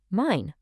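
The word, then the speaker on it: mein: E-I always makes an I sound, so the word for my is mine.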